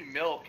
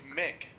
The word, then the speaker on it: Milk: toilets here can't be milk it's Mick no yeah it's Mick the L is silent butter priest iser Mick